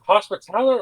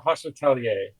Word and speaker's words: hospitaler: Is it hospitaler or hospitalier? Uh in this context it's hospitaler. Okay, gotcha. I think there might be pronunciations that are the other way, but yeah, it's it's it's spelled hospital.